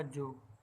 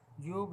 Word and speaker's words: योग: अतः यहाँ योग बोला जाएगा जोग, किंतु योग नहीं।